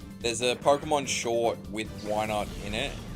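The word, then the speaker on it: Wynaut: Why not? It's spelled Y at W Y N A U T, I think. And he goes, "Why not?" Sounds like he's saying, "Why not?"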